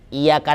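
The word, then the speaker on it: إِيَّاكَ: Iya-nya 2 kali situ tasydid. Jadi iyyaka na'budu wa iya. Kadang-kadang ada imam yang iyyaka na'budu wa iya. Iya. Itu nggak ada tasydidnya kalau begitu. Kalau dia cuma bacanya iya saja, iyyaka na'budu wa iya. Memang antara yang tasydid sama tidak tasydid ini terlalu tipis perbedaannya. Tapi bisa dilihat dari penekanan bacaan.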